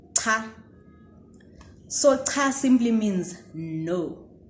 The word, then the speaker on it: cha: So let me teach you how to pronounce the cha sound, and let's start off with this. Cha, che, chi, cho, chu.